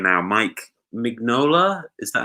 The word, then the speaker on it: Mignola: Mike Mignola, is that how you pronounce it? Mike Mignola, yeah.